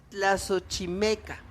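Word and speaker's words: Tlaxochimaco: Era el mes de agosto y era el mes de Tlazochimeca. Ay, lo pronuncié bien.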